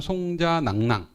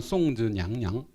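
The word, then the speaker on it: 送子娘娘: 그러니까 송자 우리 발음은 송자낭낭 이렇게 되죠. 중국어는 송즈냥냥.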